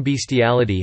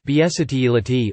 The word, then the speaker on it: bestiality: The legal term bestiality has two common pronunciations, bestiality or bestiality, the latter being more prevalent in the United States.